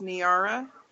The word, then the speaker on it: Niara: there we go yeah my name is actually pronounced niara like a tiara only with an n on the front oh that makes so